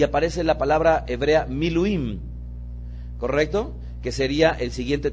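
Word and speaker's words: מילואים: de que el detato quinto tipo de corbán miluim podrían pronunciarlo conmigo mi luing que es un corbán de consagración que es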